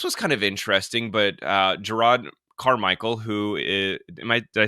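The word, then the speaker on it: Jerrod Carmichael: And so, this was kind of interesting, but Gerard Carmichael, did I say his name You right did, this yeah.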